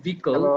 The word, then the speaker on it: vehicle: কোল মানে হচ্ছে কয়লা, কোল, উচ্চারণটা কি? Coal. কোল, হ্যাঁ। আচ্ছা, একটা হচ্ছে যে ভেহিকলস, এটা হচ্ছে ভিকল।